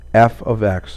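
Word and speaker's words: f(x): X even though we're using parentheses this is pronounced as f of X or function of X your new notation would look like this the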